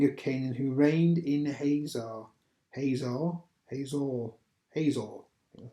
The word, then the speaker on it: Hazor: It says, so the Lord sold them into the hands of Jabin, a king of Canaan, who reigned in Hazor. That's how you pronounce it.